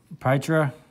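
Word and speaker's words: Pietra: Then we got Pytra.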